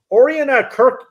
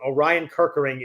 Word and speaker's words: Orion Kirkering: But Oriana Kirk, do I always say it wrong? Orion Kirkering is uh is half closing games for Philly.